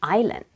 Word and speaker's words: island: see a problem yes the first letter you pronounced like I not e and there is a silent s in it to help you to